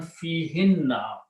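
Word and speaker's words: فِيهِنَّ: The actual word is hunna, but in tajweed we pronounce hinna.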